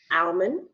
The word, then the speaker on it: almond: almond almond salmon salmon now remove the L from either one of these words you still know what's going on you still know what a salmon is you still know what an almond is you don't we don't